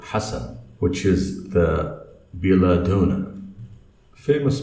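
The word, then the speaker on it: حسن: And for the people who don't speak Arabic, they say Hassan. It starts with the letter Ha. So it's Hassan.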